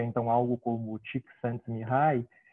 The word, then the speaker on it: Csikszentmihalyi: pelo menos para o nosso contexto, né, se pronuncia então algo como Csikszentmihalyi.